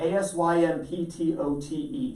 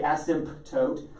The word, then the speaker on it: asymptote: referred to as an asymptote asymptote a-s-y-m-p-t-o-t-e silent p it doesn't say asymptote just asymptote why is the p